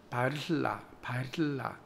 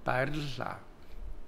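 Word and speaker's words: баярлалаа: 감사합니다는 바르라. 이게 에르 발음이 굉장히 어렵습니다. 여기 우리나라에 없습니다. 저도 사실 잘 안 됩니다. 그래서 바르라, 의도적으로 이렇게 혀를 좀 이렇게 옆으로 퍼뜨려야 됩니다.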